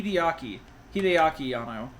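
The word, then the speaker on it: Hideaki Anno: glad hii ano is that's what his name is Right Hideki ano ano hi hiaki hiaki ano okay I was saying it wrong hiyako I'm glad he's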